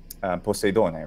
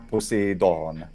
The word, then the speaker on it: Poseidon: So, Poseidon. Poseidon. Poseidon. Okay. Yeah, Poseidon. Exactly. I believe in modern would be Poseidonas, if I'm not wrong, with a V, but it's still a D in Attic pronunciation.